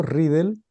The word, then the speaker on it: Ridel: a la investigación de ridel así se pronuncia tu apellido ridel eh que está reflejada en este libro bueno